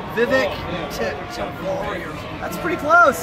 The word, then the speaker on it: Vivek: The Vivek rhymes with steak.